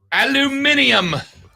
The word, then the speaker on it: aluminium: Aluminium. See, I have a problem with the British pronunciation of aluminium because where the hell is the last I? All right, Where's the I in nium?